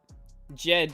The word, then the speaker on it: Jed: Jed is how we pronounce it.